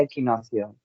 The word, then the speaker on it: equinoccio: después del equinocio del equinoccio se dice equinoccio verdad sí equinoccio equinocio Bueno aquí en castellano se pronuncia equinocio equinocio vale equinocio después